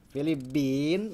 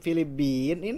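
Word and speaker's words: فلبيني: berikutnya Anta minalin filibin nah tidak boleh filibin ini Nun harakatnya apa filibin ynya mati nunnya mati ah itu tidak boleh harus jelas ya kalau dalam percakapan silakan disukunkan tapi kalau lagi belajar teori harus jelas filibini filibinu filibina filibini ada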